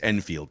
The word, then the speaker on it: Enfield: Enfield in college although is it enfeld is that how we pronounce his name I've heard of both ways and it's Enfield Enfield Andy Enfield in college father played